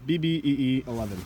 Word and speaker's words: BBEE11: from Black Diamond and it is the be pronounced BB EE 11 so it's an 11